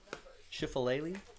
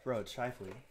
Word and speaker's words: Scheifele: You should hear me years ago trying to pronounce that name. Really tripped me up when I first saw that. Schifalele? When someone's like, it's Shifley. It's like, no, it's not. There's just way too many L's and E's there.